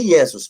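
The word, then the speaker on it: Iesous: Se pronuncia Iesos, mas a escrita é Iesos.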